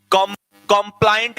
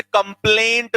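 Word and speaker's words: compliant: कंप्लाइंट बेटा, कई लोग इसे कंप्लेंट बोलते हैं, जबकि कंप्लेंट में ए पहले और आई बाद में होता है। ये आई पहले तो कंप्लाइंट, प्रोनाउंसिएशन बोलना है इसका कंप्लाइंट, फिर बोलो कंप्लाइंट।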